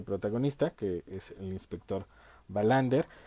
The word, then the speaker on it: Wallander: Digamos que la pronunciación sería Wallander.